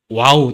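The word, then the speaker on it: ו: 여기 보면은 이제 와우 또는 바브라 하거든요. 고대에는 와우라 하겠어요. 근데 현대에는 이제 바브라 하거든요. 또 뜻은 똑같습니다. 아니, 똑같은데 읽는 것만 지금 현대는 바브라고 읽고 이사야서라든지 시편 같은 게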